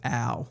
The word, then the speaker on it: Ough: Dylan, can you please inform me on how to pronounce Jack Ough? As I understand, his family would say ow.